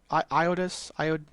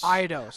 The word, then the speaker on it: Eidos: Iodus. Tomb Raider. I know I'm in the Uh, ballpark of pronouncing Ido. it. You talking about Eidos? Eidos.